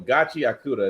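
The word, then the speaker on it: Gachiakuta: I had to look I had to look up the pronunciation. I got tired of I got tired of disrespecting it. So, Gachi Akura is what it's called.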